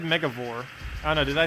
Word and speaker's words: Megavore: I said Megavore. I don't know, did I say it kind of weirdly? It's Mega and then Vor.